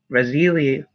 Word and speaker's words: Raziel: them action steps are Archangel Raziel pronounced rasili means the secrets of